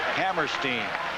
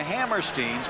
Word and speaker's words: Hammerstein: We went up and said, is it Hammerstein or Hammerstein? Well, the kids told us Hammerstein. Then he came back and said, yes, he says, I think it's Hammerstein. They don't even know how to pronounce their last name. Their dad's been called both, so we'll say Hammerstein today.